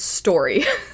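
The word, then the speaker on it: Storee: the story, her name is Story, spelled I think s t o r e e because I listened to the audiobook for this one and I looked it up and I believe that's how it's spelled.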